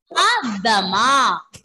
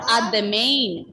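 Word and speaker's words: à demain: Adama. Ending letter N here will be silent. We are not pronouncing that N there.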